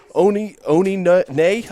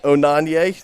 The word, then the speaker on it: Onanye: In addition to Roberts in the goal will be number 58, Anthony Osorio, number 59, Emeka Onine, I believe. I think it's Onanye. Onanye, there we go.